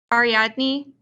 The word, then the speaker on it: Ariadne: First, how do you pronounce this person's name? Ariadne.